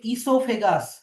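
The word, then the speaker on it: oesophagus: এবার ফুড পাইপের আরেকটা নাম হচ্ছে ইসোফেগাস। ওই এস ও পি এইচ এজি ইউ এস। ও এর প্রোনাউন্সিয়েশনটা সাইলেন্ট থাকবে।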